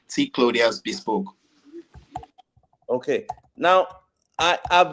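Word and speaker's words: T Clothiers Bespoke: e s p o k e so it's pronounced T clas Boke okay okay now I I've been saying this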